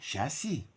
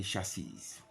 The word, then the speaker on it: chassis: lighter blue color and when we come to this one you know we say chassi as is silent in audible mute here we say chassis not long but short e sound it should be doted